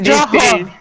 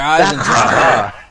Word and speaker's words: Eisendrache: It's the D-E and we Where's Draha? No, the H E gives like a ha sound. It's Der Eisendrache.